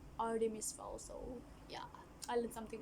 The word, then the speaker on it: Artemis Fowl: From my previous video, I said Artemis Fowl, but the right pronunciation is actually Artemis Fowl.